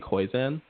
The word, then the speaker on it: Koyczan: And then another poet is Shane Koizan. How do you spell that?